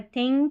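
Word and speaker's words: thing: तो यह यहां पर है थिंग थ दिस। यहां थिंग थैंक थ है। दिस that दिस that the है और यह है मदर।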